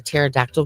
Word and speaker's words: pterodactyl: You know why you can't hear a pterodactyl go to the bathroom? I don't know. Because the P is silent.